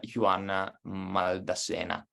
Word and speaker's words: Juan Maldacena: And talking about physicists, you had, I think recently, had a talk with, nonetheless, Juan Maldacena. Am I pronouncing it right?